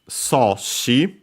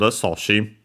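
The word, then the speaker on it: 阻止: This Chinese compound, soshi, accent on the first mora, so yeah, one of those, means obstruction, prevention, hindrance, and so on, blocking, stopping, straight up.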